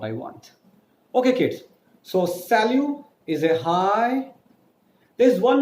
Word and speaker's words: salut: u.s.a L u T s al u T is not a salute it's called as cell you in French because in French the last consonant sounds are not pronounced so I'll give you